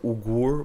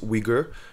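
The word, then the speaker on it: Uyghur: were mostly wiger Muslims wiger which is spelled uy g h uur it seems like ugur but it's wiger they call wiger yeah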